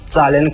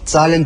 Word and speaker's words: zahlen: 그래서 그 동사 zahlen 그대로 이용해서 zahlen bitte 하시면 되는데요. 그 표현은 ich möchte zahlen bitte, ich möchte 이 부분이 생략된 겁니다. 그래서 zahlen bitte 계산하고 싶습니다. Z의 발음에 유의하시면서 발음 연습해 보십시오. Zahlen bitte.